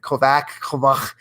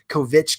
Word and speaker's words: Kovach: Kovach, which is the right way to say it. Kovich, Kovichner. There's even been like the school district here.